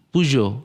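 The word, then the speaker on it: Peugeot: pijet pijet pijet iya bukan kan bukan Pujo bacanya Pujo Pujo Anjing keren akhirnya Gua selama ini gua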